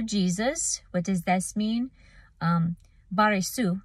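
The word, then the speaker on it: Βαριησοῦ: Baresu is how it's said in the Greek, and it's son of Jesus.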